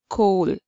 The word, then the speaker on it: coal: first vowel sound okay o a gives only o sound let's go for the first word c-o-a-l cole okay okay this is the